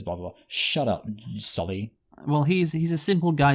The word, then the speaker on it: Sully: I do know, like, it is pronounced Sully, properly, but hey, I like that from Cameron, that his name is pronounced differently by the Na'vi.